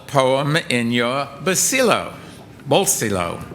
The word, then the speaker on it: bolsillo: Bolsillo. Bolsillo.